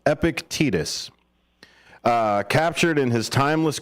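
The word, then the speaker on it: Epictetus: profound wisdom of the stoic philosopher epicus that is spelled epic e p i c t t s epic tetus uh captured in his Timeless quotes absolutely one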